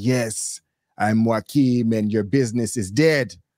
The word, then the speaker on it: Jaquan: His name is spelled Jaquan, but he calls himself Joaquin.